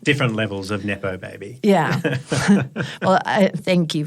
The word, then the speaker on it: nepo baby: better um oh God but he didn't he pronounce it nippo baby okay he's not up with the lingos um but the other